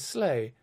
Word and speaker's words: Sleigh: Similarly, his surname is Sleigh, S-L-E-I-G-H, because this sounds like the word slay, S-L-A-Y, another term for kill.